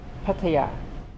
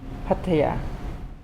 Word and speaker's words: Pattaya: Pattaya. Again? Pattaya.